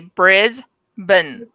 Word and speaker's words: Brisbane: say the word brisbane just say briz ben brisbane yeah i can say